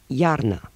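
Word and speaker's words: iarnă: At the beginning of a word, I is pronounced like ya, in yard, as in... Yar. Iarna.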